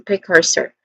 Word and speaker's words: precursor: Pronunciation wise we have three disting sounds starting with pre short e vowel sound then c and son again and not son but sir again sir so precursor again precursor and lastly the last